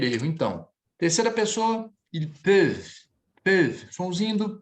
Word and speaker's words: peuvent: Muitos alunos às vezes falam peuvent, peuvente, peuvent. Não, você vai pronunciar até aqui.